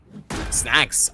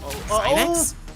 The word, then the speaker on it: Synax: He knows exactly where Snacks, I do believe. I remember that Salty told me yesterday what was the perfect pronunciation, and I do believe it's Synax going up against Sinks.